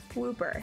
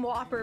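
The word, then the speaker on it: Wooper: oh God okay um donkey and Whooper shinies Whooper that is how you pronounce I was calling them Whopper before I was like I remember I was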